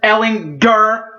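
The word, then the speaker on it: Ehlinger: my hat off to sam ellinger heart hit that hard g big boy you deserve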